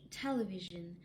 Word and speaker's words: television: In the word television, the primary stress belongs to the syllable te because of its strongest prominence.